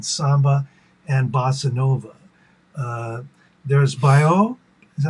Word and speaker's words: baião: There's baio, is that how you say it? Bayon or Baião.